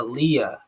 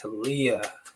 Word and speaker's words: Halia: a show like this to leah oh it's halia okay sorry that i was saying your name wrong but yeah um hey